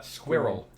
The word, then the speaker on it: squirrel: semi-final ah yes uh squirrel one one syllable more or less it is and i don't understand that one either there are definitely two syllables i pointed out once